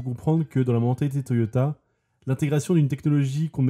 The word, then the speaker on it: Toyota: Et vous avez remarqué peut-être que je disais Toyoda et pas Toyota. Et c'est normal. La famille s'appelle bien Toyoda, mais Toyota étant plus facile à prononcer, eh bien ils ont tout simplement changé leur nom de famille pour des raisons marketing.